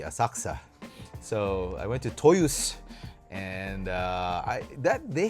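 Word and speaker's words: Toyosu: I did go to another Toys R Us store uh in uh Toyusu or Toyus. They don't pronounce the U.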